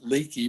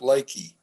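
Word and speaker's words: Leakey: I felt that I understood more of Texas culture when I found out that it's not leaky, but lakey. Again, I mean, it's somewhat crazy how the pronunciation, and that's why there are all these books and things on how to speak Texan.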